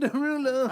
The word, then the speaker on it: Derulo: It's pronounced Jason Derulo.